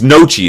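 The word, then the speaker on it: Gnocchi: Like or it might be No, it's Nochi is how it's pronounced. The G is silent, but it's G N O O C H I.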